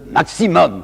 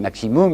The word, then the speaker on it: maximum: Ces gens demandent le maximum. Vous savez, aujourd'hui on dit maximum, mais ils disaient maximum, alors je prononcerai comme eux.